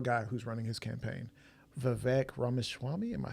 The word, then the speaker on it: Vivek Ramaswamy: I actually know a guy who's running his campaign, Vivek Ramaswamy. Am I saying it right? Oh, you have been, yeah, Vivek Ramaswamy, yeah.